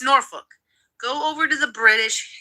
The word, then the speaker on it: Norfolk: It's not Norfolk. It's not no-fuck. It's Norfolk.